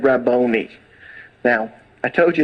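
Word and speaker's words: Rabboni: the voice so she turned and she said raboni now I told you it's not Hebrew it's actually Aram is Rabani and it's transliterated into Greek and we transliterate it and it's pronounced raboni but the Hebrew word and they took it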